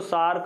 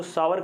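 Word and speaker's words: sour: हाँ, कई लोग इसको सार, कई लोग इसको सावर कहते हैं। द रियल प्रोनाउंसिएशन का सावर है।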